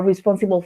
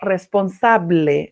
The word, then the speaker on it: responsible: Contact people, delegate obligations, compete with, that you're responsible for something or for doing something. When you talk about this, please remember, responsible is not responsable, like in Spanish, you use an I, responsible.